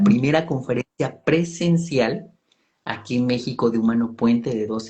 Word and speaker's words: México: Jalapa porque tiene eh su lógica es igual, por ejemplo, México también que va con X, sucede lo mismo, tendría que escribirse con J, pero es una una